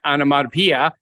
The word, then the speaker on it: onomatopoeia: Onomatopoeia. I like to say that. Yes. Why? Because I don't quite say it right. So you always like to correct me. But you said it right that time, onomatopoeia.